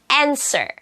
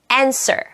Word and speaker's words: answer: 자, 이제 W, W가 묵음이 되는 단어들. answer, answer, haul, haul, winkle, winkle.